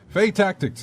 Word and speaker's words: Fae Tactics: um this is a game called faye tactics fae tactics is it faye is that how you pronounce that yeah fay tactics it's the main theme for that we're gonna